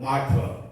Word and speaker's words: 마터: 영어 단어로 읽을 때는 마르터라고 읽지 말고 튜르라고 읽지 말고 마터.